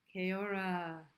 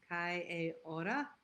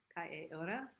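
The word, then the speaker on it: Kia ora: Keora. That's not how you say it. It's Kai Ora. Kai Ora from New Zealand.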